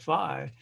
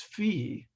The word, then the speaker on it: phi: fee or is it phi well it's greek it's a latin based language it's pronounced fee if you want to go there but then you know